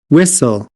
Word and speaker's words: whistle: seventeen antique antique agora Existem algumas palavras que independentemente de sotaque estas palavras possuem o temudo então este T aqui não será pronunciado nunca independentemente do sotaque da pessoa e não existe regra para isso você apenas tem que aprender estas palavras L len fen ofen